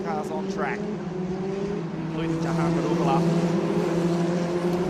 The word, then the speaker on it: Daruvala: They've done a superb job to assist with our TV coverage and put 2 racing cars on track, including Jehan Daruvala. Daruvala, I should say.